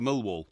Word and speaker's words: Millwall: an opportunity mil wall by the way is how we pronounce it yeah mil wall mil wall mil wall mil wall mil mil wall you got to have the uh pronunciation the enunciation the second syllable mil what an opportunity